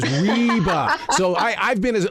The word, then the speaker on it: Reba: I said I said who is it rebba rebba is that how you say it and he goes reeba so I I've been